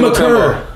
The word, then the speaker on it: Maker: Yo, Thon Maker out there like Thon Maker turned into Thon McCurr.